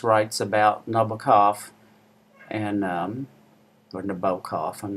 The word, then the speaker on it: Nabokov: I really love it when Amis writes about Nabokov and or Nabokov, I'm not sure, but I believe you pronounce it Nabokov.